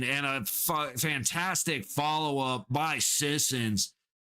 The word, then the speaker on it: Sissons: and his 100th career goal, number 10, Colton Swit. Shit, I butchered that, didn't I? Colton Sissons with an assist by number 42, Braden Bowman.